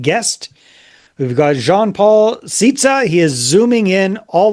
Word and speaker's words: Szita: So there's no Z sounding in there. It's Szita. Szita, just like that.